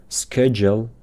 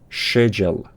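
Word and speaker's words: schedule: با عجله ترک کردنه واژه اسکجل تلفظ امریکن میشه اسکجل تلفظ بریتیش میشه شجل شجل حواستون باشه از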